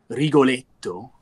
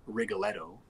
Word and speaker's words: Rigoletto: under that category is regal a doe or if I say it with the American pronunciation Rigoletto one of my favorite